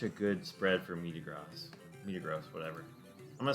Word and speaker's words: Metagross: Same as you pronounce Facebook's new name, Meta. Meta Gross. It's not gross though. It's Meta Gross.